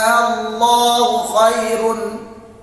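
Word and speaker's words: آللَّهُ: Kata Allah tadi A-nya panjang. Hati-hati ya, kalau baca ayat tersebut yang salah ya, itu masuknya mad lazim, bacanya Allahu khairun ya.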